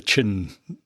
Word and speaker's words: Qin: I mean you know for a long time I didn't realize that Q uh is pronounced ch. So in other words, you have the Qin dynasty.